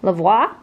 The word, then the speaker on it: Lavoie: I say it wow Lavoie that's it like like au revoir yeah we're over LA